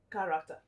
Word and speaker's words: character: voice we've agreed that the c h in character has the k sound ka ka character option a is unique